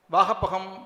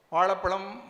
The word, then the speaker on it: வாழைப்பழம்: அது காய் வெட்டாக இருந்தது வாகப்பகம் வாகப்பகம் என்றாள் திருநெல்வேலியில் இன்னும் கொஞ்சம் கனிந்தது வாழைப்பழம் வாழைப்பழம் என்றாள் மதுரைக்கு வந்தாள் சரியாக கனிந்திருந்தது வாழைப்பழம் வாழைப்பழம் என்றாள் அப்படியே அவள் சென்னைக்கு வந்தபோது அது மிகவும் கனிந்துவிட்டதால் வாயைப்பயம் வாயப்பயம் என்றாள் என்று அவர் முடிப்பார் இந்த சென்னை